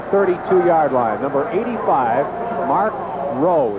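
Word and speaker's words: Raugh: Number 85, Mark Rowe, it's spelled R-A-U-G-H, and he is their top receiver.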